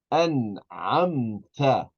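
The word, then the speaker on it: أنعمت: An'amta. An'amta. We pronounce the noon fully because there's an ayn that comes after the noon.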